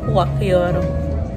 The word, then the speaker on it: Wakyoto: We'll ask for the proper pronunciation. Wakyoto. Wakyoto.